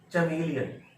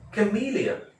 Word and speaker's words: chameleon: अब अगला है, ये जो शब्द है अभी सामने आया, ये कैसे बोलते हैं, बहुत सारे लोग बोलते हैं चमेलियन बोलते हैं ना, गिरगिट होता है, गिरगिट हिंदी